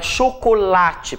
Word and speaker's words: chocolate: Então, a palavra chocolate, por exemplo, né? Chocolate. Qual é a sílaba mais forte? A sílaba tônica é o lá.